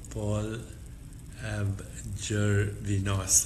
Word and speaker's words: Paul Gervinos: So Paul Gervinos and Kabir Sehgal.